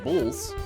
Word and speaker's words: BLS: a survey conducted by the BLS, which is pronounced bulls, to understand the number of hires, fires, and open positions in the labor market.